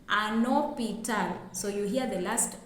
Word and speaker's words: hôpital: For example, we have hospital in English, but in French we say hôpital, and you can see that the H in hôpital is silent.